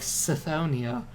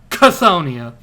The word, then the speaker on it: Chthonia: So, since they're like that, they wouldn't pronounce a C with a soft C like Scythonia. No, they're very direct and very hardy people. So how do they pronounce that? Chthoniya, like Cthulhu.